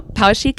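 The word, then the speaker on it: Poweshiek: bit about the the power sheik butterfly if please feel free to correct my pronunciation no power chic is fine hey great I'm it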